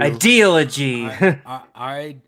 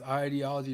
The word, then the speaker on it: ideology: Ideology. Ideology. Yeah. Ideology. It's pronounced ideology, not ideology.